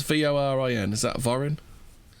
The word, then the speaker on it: Vorin: How would you pronounce Vorin? Is that Vorin? Vorin.